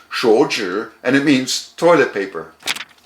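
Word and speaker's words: 手纸: In Chinese, it's pronounced 手纸, and it means toilet paper.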